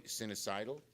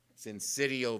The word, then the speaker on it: syncytial: Respiratory sinusitis? Syncytial virus.